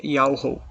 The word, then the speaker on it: Yahweh: do Altíssimo, que fez todas as coisas, é Yahweh. Ele vem de um tetagrama hebraico. Yod-He, Vav-He. Aqui nas nossas letras fica Y-H-W-H. E a pronúncia dele é Yahweh, desse tetagrama.